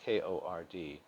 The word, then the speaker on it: chord: of the circle one type is the chord pronounced kord and the other is a secant a secant